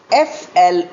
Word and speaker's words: flower: This is the next pair of homophones, spelt F-L-O-U-R and F-L-O-W-E-R, pronounced as flour.